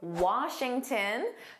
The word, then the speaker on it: Washington: or Dubai, let's review Washington, just like Boston, Houston. Notice that N sound is a tin. Tin because it's unstressed, you can say Washington DC is the capital of the United States.